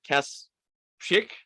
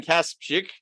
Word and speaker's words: Kasprzyk: today's guest is let's see if i can pronounce your last name right cass chick perfect all right let's hear you pronounce it i kaspick and you're the author